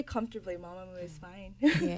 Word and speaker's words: Mamamoo: 그 발음이 맞는지 마마무가 맞는지 편하게 해달라고. Just say comfortably, Mamamoo is fine. Mamamoo.